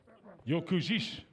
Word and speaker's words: Jokužys: Vilius Jokužys? Well, ask Kristjan Sindri. Kristjan Sindri knows these things. Jokužys. If I'm wrong, blame Mrs. Magnússon. Monica, how do you say his surname? Jokužys.